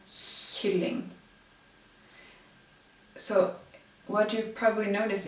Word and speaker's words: kylling: That's a way to remind you that those three sounds, well, those three writings are pronounced in the front of the mouth, where you pronounce the S.